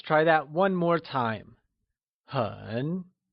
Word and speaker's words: 很: 很 is said with a falling, rising tone, or the third tone.